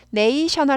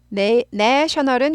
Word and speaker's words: national: 국제적인이란 뜻이죠 네이션의 왔어요 네이션이 국가예산 됐어요 그러면은 네이셔널 아니고 셔널 발음이 바뀌어요 션에서 널로 바뀌어요 발음이 A로 바뀌었어요